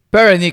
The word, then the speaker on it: Perenich: Con 3 sílabas, ¿es correcto? Pernick, sí, 2. 2 sílabas, sí.